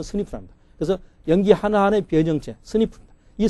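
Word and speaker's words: SNP: 영어로 SMP인데 발음은 스니프랍니다.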